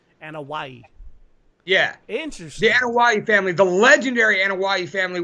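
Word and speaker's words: Anoaʻi: Anoi? Oh, close on that first attempt, man. It's Anawai. Anawai. Okay. Kinda like Anawai. No, Wai. Anawai. Anawai. There's no H. Anawai. Yeah. Interesting. The Anawai family, the legendary Anawai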